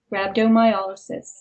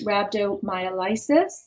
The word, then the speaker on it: rhabdomyolysis: a state called rabdo rabdo myol it's often incorrectly pronounced rabdo myis but when you look at the structure of the word it's y sis like paralysis and not like Crisis Isis but it does